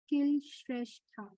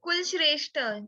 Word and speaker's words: Kulshrestha: Okay, first let me take Vidit Kill Shrestha. Okay, Vidit. I can find Kileda. Is it the right No, pronunciation? it's Kulshrestha, Sudipta. KUL.